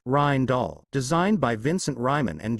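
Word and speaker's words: Rijndael: FIPS 197 Rainall pronounced as Rhin Doll designed by Vincent Ryman and Joan Damon.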